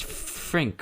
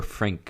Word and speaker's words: Frink: actually get him here it's Frink right I I never pronounce that right I would say Frink or Frank like but it's whatever